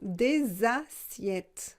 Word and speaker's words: des assiettes: des assiettes des assiettes j'ai fait la liaison des assiettes parce que c'est pluriel des inquiète il existe des assiettes plates et des assiettes creuses des assiettes plates et des assiettes